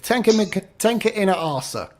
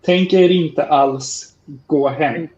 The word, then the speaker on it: Tänker inte alls gå hem: Alvingarar with Tenka Ina Arsa.